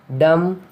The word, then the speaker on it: dumb: B is not pronounced after M at the end of a word. For example, limb, crumb, dumb, comb, bomb, thumb, climb, tom.